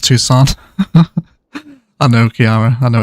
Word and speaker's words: Tucson: It's pronounced Tucson.